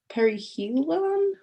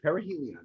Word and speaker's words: perihelion: i'm sorry harry yes perihelion helion perihelion yes that perry means next to helios is the sun right so it's perihelion and what do we